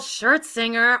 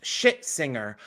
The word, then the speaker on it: Scherzinger: And Nicole Scherzinger almost definitely has destroyed her chances at a Tony.